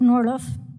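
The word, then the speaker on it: Norrlof: Carla, is it Norliff? I get all kinds of pronunciations, but Norliff.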